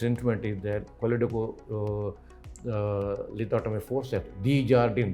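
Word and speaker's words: Desjardins: This instrument is there, lithotomy forceps, D-Jardin, D-E-S-J-A-R-D-I-N, S is silent, lithotomy forceps also there.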